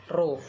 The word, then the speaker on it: rho: rumus massa jenis atau itu yang kayak kayak huruf P itu bacanya dia rho yaitu rho = m/v